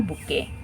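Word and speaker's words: bouquet: क्यू यू ई टी बुके यह हमारी spelling हो जाएगा इसमें टी जो है वो क्या है साइलेंट है बके नेक्स्ट स्पेलिंग हमारी रेसिपिटिन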